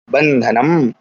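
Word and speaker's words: बन्धनम्: तो इस अनुस्वार के स्थान पर क्या हो जाएगा? ना हो जाएगा। शब्द क्या बन जाएगा हमारा? बंधन बनेगा ना। इस प्रकार से बंधनम बन जाएगा, बंधनम।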